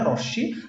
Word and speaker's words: রশ্মি: জিনিসটা হচ্ছে সেটা হচ্ছে রশ্মি বা রশ্মি মি শব্দটা আমাদের বাংলা ভাষায় ম টাকে উচ্চারণ করে না রশ্মি তালব্য স প্লাস ম ঠিক আছে তালব্য স